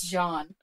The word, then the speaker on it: Jean: We've been pronouncing Gene incorrectly all this time. What? Yep. I was looking on Scott Lynch's website, and he has an FAQ page on there. I was reading about the Eldrin. It's Jean. Oh, no. All this time, it's been Jean, the French in the French style.